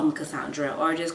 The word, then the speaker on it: Cassandre: so it's constant and usually I tell people like to pronounce it the creole way the haitian way which is Kai and then just some straight son whereas in French it's like more pronounced and the D and R and everything at the end so that's my name